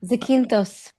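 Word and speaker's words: Zakynthos: So there's we're on an island which whose name I can't pronounce well. Zach Zak Zakinthos. Zakintos. Zakinthtos.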